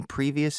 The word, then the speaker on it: previous: Do you require any previous experience?